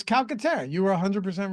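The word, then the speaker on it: Calcaterra: was like there can't that can't be right it's calcatera you were 100% right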